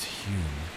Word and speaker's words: Home: Another fan favorite is Daniel Dunglas home. That's Hume, but pronounced Hume because Victorians love being confusing.